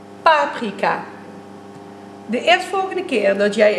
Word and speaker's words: paprika: Zit jij in team paprika of een team paprika? Het laatste is het juiste, want je zegt toch echt paprika.